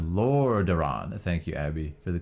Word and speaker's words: Lordaeron: It's pronounced Lordaeron.